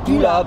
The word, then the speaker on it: Pula: Pula, P-U-L-A. On prononce comme en français.